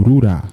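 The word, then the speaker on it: ルーラ: Em japonês é pronunciado como Rura.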